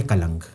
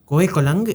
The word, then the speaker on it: Kolang: thing that gives me greater That is Ko Kalang. Kolang is this mountain extension of Natans. Ko Kalang. How do you spell that?